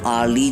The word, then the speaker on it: hourly: An hourly job. An honest person. An FBI agent. An MP. In hourly and honest, the letter H is silent, and the first sound